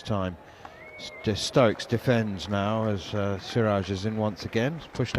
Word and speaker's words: Siraj: I've heard sometimes Muhammad Siraj pronounced Shiraz. Is that just a is that just an error? Yeah, it's Siraj. He's not that. He's not the fine red wine.